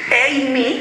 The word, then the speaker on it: AME: pero aquí es EMI, porque es inglés las siglas, AME, se pronunciaba todo en inglés y ha seguido con EMI, EMI, y aquí hay una mezcla fuertísima, sí.